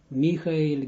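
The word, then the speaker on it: מיכאל: And there are like Michael, I pronounce it in Hebrew way. Michael, Gabriel, Uriel, Raphael, the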